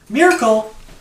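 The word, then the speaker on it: Myrakul: Miracle spelled in this weird, funky way, like M-Y-R-A-K-U-L. So if you read it, you might not pronounce it in your head that way.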